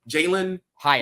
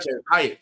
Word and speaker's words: Jaylen Hyatt: oh my God I was gonna say his name wrong he's not playing Jaylen Hyatt not J Hyatt my bad yeah Jaylen hayatt Jaylen Hyatt I